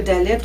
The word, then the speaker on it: Dalet: Et le Dalet aujourd'hui se prononce D. Le Dalet signifie, est le symbole d'une porte, ou encore au niveau plus spirituel, d'un appauvrissement ou de l'humilité.